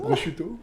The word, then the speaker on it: prosciutto: L'autre jour, je vous ai confronté à prononcer porcuito, là. Porcuito, c'est dur. C'est là. Porcuito? C'est prosciutto.